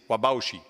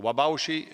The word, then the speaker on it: Whabouchi: 10 different pronunciation but the one that sounds most likely is wabashi so wabashi White Mountain and this is your